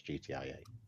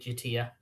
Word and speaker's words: GTIA: To be fair, when we was at the event yesterday, I never heard Gitia. All I ever heard was GTIA. Yeah, that is the official pronunciation for it. We got told off for calling it Gitia.